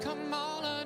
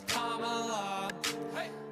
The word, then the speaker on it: Kamala: Her name is Kamala. It's not Kamala, no, her name is Kamala. Emphasize the first syllable, it's Kamala.